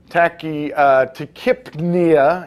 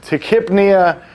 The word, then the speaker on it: tachypnea: The fun one is when we add breathing, the P-N-E-A, pnea, Tachypnea is how that's pronounced. It's not tachypnea.